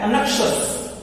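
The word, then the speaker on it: anxious: ठीक है, देखिए जो वर्ड आया है वो है अनक्षस। ओके, प्रोनाउंसिएशन याद रखना है आप इसका बिल्कुल, अनक्षस।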